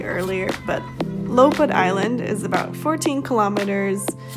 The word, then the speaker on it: Lopud: see in a bit i did not pronounce it correctly earlier but lopad island is about 14 kilometers away from dubrovnik